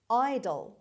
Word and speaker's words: idol: به لحاظ تلفظ یکی هستن، به لحاظ نگارش متفاوت هستن.